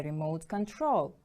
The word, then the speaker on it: remote control: You can see on the screen a remote control. Remote control is a noun. It is a device or mechanism for controlling something from a distance. Remote control. The stress is on the second syllable.